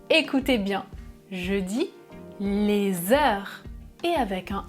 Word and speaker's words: heure: Le mot heure commence par un H muet.